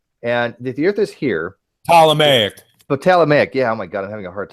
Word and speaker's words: Ptolemaic: Okay, so if this is a Potalic model, and the Earth is here. Ptolemaic. Ptolemaic. Yeah. Oh my God, I'm having a hard time today. Ptolemaic. There's no P. You don't pronounce the P.